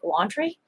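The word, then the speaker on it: Laundrie: happened and brian laundry is his name pronounced like laundry brian laundry argued in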